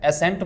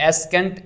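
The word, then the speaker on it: ascent: तरह से एसेंट है एसेंट में भी हम सी को प्रोनाउंस नहीं यानी एस केंट इसको नहीं कहेंगे बल्कि हम इसको पढ़ेंगे एसेंट इसी तरह से डी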